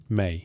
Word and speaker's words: ME: The word appears in cuneiform as two signs, Sika, me, pronounced roughly may.